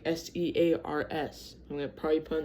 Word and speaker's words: Sears: That's how you supposed to say it. Not how you spell it. You spell like s e a rs.